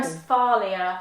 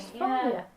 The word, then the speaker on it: Westphalia: west and then Phalia. Oh, West, blimey. Westphalia, I think. Westphalia.